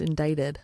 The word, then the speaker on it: indicted: i c t indicted yeah yeah it's actually pronounced indicted indictment oh I'm so mad what I was